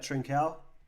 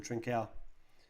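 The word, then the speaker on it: Trincão: where are we oh he's doing that trincal um peter it's probably not how you say his name the young guy from portugal trincao yeah he's he's quality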